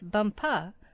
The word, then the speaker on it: Bumpa: She became his chief wife and is now known out there as the crown princess Bumpa. You accent the last syllable.